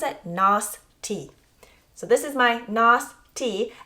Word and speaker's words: Nostie: And Nostie, so Nos like moss or boss, and tea like drinking tea.